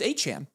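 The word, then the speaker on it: Achane: Now, this one you have to dock points because it's pronounced achan.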